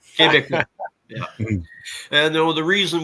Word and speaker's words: Québécois: Quebecois? Yeah, they call it Québécois. Sound like Okay. a Frenchman when I say it, but I can't pronounce it correctly, but I knew. Québécois.